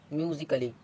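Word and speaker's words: musically: तो जैसे ए साइलेंट, यदि ए के बाद डबल एल वाई आए तो ए साइलेंट होता है। जैसे MUSICA, ए के बाद आया है डबल एल वाई, तो इसको क्या पढ़ेंगे? म्यूजिकली।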